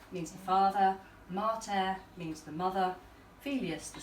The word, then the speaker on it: mater: Martha and Pater or Mater and Pater, Yeah. but they don't rhyme. Because pater has a short A and mater Has a long has a long A, so they don't actually rhyme.